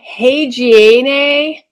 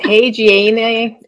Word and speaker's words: haageana: So Gomphrena hagiene, I think is how you pronounce that, hagiene.